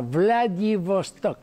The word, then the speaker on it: Vladivostok: Hay una gran ciudad en Rusia, Vladivostok, con V corta, Vladivostok se pronuncia, que va a tener un gigantesco accidente.